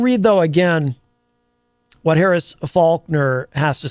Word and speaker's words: Faulkner: Eric Street says uh Faulkner if you said it the wrong way you'd have to hit the dump button yes that's why Eric I do make sure to pronounce the L um even sometimes I'll